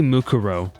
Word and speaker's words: Mukuro: So Mukuro, it should be Mukuro.